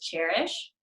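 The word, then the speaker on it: Chairish: to get online is cherish and it spelled like a chair CH AI R I SH so cherish is a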